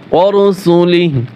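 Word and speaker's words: وَرُسُلِهِ: এখানে ওয়াকফ করলে ওয়াকফের স্থানে যদি হার সাথে খারা জবর খারাজের উল্টো পেশ থাকে, তাহলে ওয়াকফের উচ্চারণের সময় টান হয় না। ওয়ারুসুলিহি, হাই কিন্তু টান হয় নাই, এভাবে পড়তে হবে।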